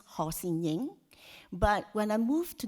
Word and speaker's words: Ho Sin-ying: So my Chinese names in Cantonese is pronounced Ho Sin-ying.